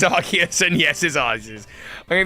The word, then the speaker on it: Arceus: answers for this and it's not yes it's arceus and yes his eyes i'll give you chances of this it's arc as in archangel not arse as in arse it's arc it's arceus it's the archangel it's arc uh it's an